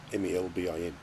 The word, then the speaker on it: Melbourne: Other things we do is drop letters out of words. Like Melbourne is how it's supposed to be pronounced. It's Melbourne, Melbin, Melbourne. Brisbane, Brsbun, Brisbane. That's Brisbane, as the Americans would say.